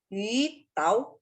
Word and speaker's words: 晕倒: 晕倒 4 ya? Ya, 4. Jadi bacanya gimana Ibu? 晕倒。 Yu 4 ya, kalau yu 2. 晕倒。 Ya, yu tau, nada 4.